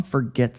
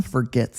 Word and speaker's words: forget: English we often say forget forget forget and it sounds like f e r not f o r let's say this basic